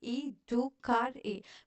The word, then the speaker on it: educare: Educare, pronounced E-do-car-e, meaning to bring up or to nurture.